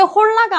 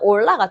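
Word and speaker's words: hola: 근데 왜 홀라가 아니고 스페인어에서는 올라가 되는가?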